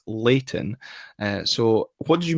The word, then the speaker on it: Leighton: remember my Gordon's education and it should be pronounced Leighton uh so what did you make of Leighton